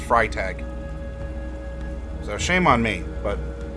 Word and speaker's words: Freytag: the way I think that should be pronounced fry tag so shame on me